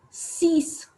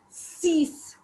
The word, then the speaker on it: six: six in english and in french we pronounce it as cease it's cease then seven seven is